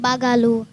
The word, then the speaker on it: Bagaloo: Kalaloo rhymes with my last name. Bagaloo.